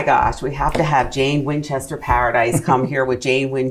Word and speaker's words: Jane Winchester Paradis: Jane Winchester Paradis, is that Correct. correctly pronounced?